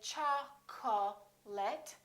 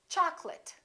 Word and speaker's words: chocolate: of people get wrong we don't say cha call let we say chocolate and remember don't say choc'late it's chocolate I'd like some chocolate